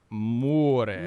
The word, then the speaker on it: Moore: Okay, and more is spelled not M-O-R-E, but M-O-O-R-E. Yeah, more dramatic. It almost looks like it should be like more. More. More. But it's not.